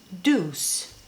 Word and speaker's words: Doucce: all that was in this box from juice Deuce that's how you pronounce it I um when I was showing